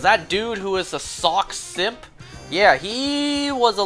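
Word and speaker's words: Sawk: in like throwing something, and then sock, as in like you put on a pair of socks. Well, I think sock I pronounce the same way, like sock.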